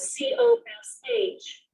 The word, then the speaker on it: cosh: And it's written as COSH of x.